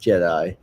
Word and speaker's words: Jedi: That's pronounced Jedi. Oh, Jedi. Yeah. Sorry. Jedi.